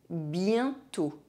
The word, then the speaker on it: bientôt: The letter O is always pronounced O when it has a circumflex accent. You know, the little hat on top of it. Tôt. Bientôt.